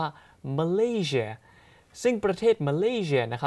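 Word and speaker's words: Malaysia: อย่า ลืม นะ ครับ ภาษา อังกฤษ ก็ ต้อง ออก เสียง ว่า มัน ลี่ เชียร์ ซึ่ง ประเทศ มะลิ เนี่ย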